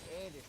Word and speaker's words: Erdős: First of all, and this will be fundamental to everything else we're about to talk about, what is an air dish problem? Paul Erdős, yes, it's pronounced like that, was a prolific mathematician from